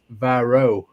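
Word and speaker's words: Weirauch: They're pronounced like a V. I was looking at Libs's uh pronunciation over in the side chat and he says Vyro.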